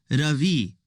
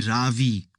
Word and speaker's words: Ravi: It's pronounced Ravi with a soft ra and a strong V. In Sanskrit, it means the sun. In America, people call me Ravi with a stress on the first syllable.